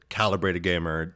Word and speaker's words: Calebrated Gamer: But the Caleb Rated Gamer, but I pronounce it Calibrated Gamer. It's supposed to be a play on words, but people give me heck about it all the time.